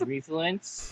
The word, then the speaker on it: Refluence: yes my name is refluence you can pronounce it the way you pronounce influence so like reverse but you can find